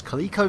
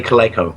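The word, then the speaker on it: Coleco: gaming Partners such as kico Vision um such as Atari such as thank you for saying it correctly by the way B and thank you for saying it correctly cuz you normally say Cleo right such as um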